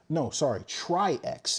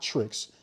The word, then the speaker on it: Tri-X: So this is the Tri-X. It's spelled T-R-Y-X. It's not Trix. Tricks are for kids. It's Tri-X.